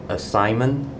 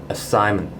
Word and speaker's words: assignment: In fact, there are two Schwa sound inside this word assignment, which is the A at the front and the E at the back. So it's assignment. Have you finished your assignment?